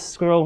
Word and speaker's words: SQRL: So, SQRL, Secure, Quick, Reliable Login, also pronounced Squirrel, as Kevin's been pronouncing it, hence the logo, was